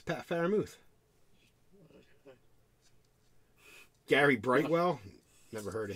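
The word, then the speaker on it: Freiermuth: too how do you say it it's pat faramouth gary brightwell never heard of him a mom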